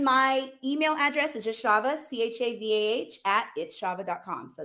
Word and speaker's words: Chavah: me on all of my platforms are @_its_Chava, CHAVAH. And It's Chava, not Chava. yes, You that didn't. is the Jewish pronunciation, but I am not Jewish.